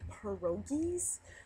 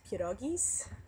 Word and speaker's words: pierogies: food with the filling inside that people call perogies i call those pierogies because that's how they're supposed to be pronounced um but yeah remind me to tell